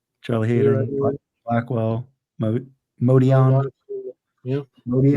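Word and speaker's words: Motian: Charlie Leroy Hayden, Jenkins, Blackwell, Modion. Yeah. Modion. Motion. I'm Motion. saying Mazzy, is it Motion or Modion? It's motion. Motion.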